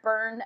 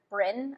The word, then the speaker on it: Bryne: I loved getting to see Gareth Byrne again, or Gareth Bryn, I think that's how you say it, Bryn.